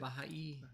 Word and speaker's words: Baha'i: Baha'i.